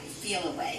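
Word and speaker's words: Feliway: in but I don't called feel away it's spelled f-e-l-i-w-a-y feel away okay you get from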